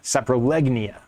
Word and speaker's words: Saprolegnia: you separ Genoa okay oh it's not sap sapr renel it's sap Saia saprolegnia okay I said it wrong but um see how